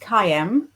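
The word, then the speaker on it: caim: Oh, so Lucian says the word came pronounced cayam.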